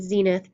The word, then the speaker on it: zenith: And that's spelled N-A-D-I-R, and zenith, Z-E-N-I-T-H.